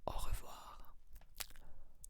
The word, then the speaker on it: au revoir: And so to say goodbye, we say au revoir, au revoir, au revoir, au revoir. You can spell it with me if it can help you.